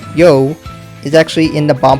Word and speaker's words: You: name as we know y-o-u is pronounced y-o which is yo which is what is